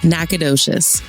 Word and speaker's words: Nacogdoches: Nacogdoches.